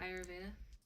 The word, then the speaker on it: Ayurveda: Ayurveda, like the Indian Oh yeah, medicine? Ayurveda.